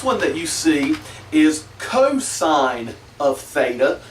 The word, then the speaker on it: cosine: The next one that you see is cosine of theta. So it's not just cos, it's cosine of theta.